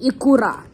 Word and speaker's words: Ikura: I am Japanese and I pronounce them all correctly. And the last ones, these ones, crunchy, are called the Gummy Ikura.